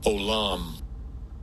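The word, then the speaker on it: עוֹלָם: And it says, I'll give you a pronunciation. Strongs. H5769. Olam.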